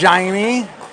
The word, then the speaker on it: Jaime: Then we got Jaime Oncins, pronounced Jaime, from Brazil.